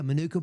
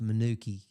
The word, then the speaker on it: Manuka: Um the Yeah, Manuka. Yeah, Manuka. Manuki. You realize it's pronounced Manuki. If you're local, it's Manuki.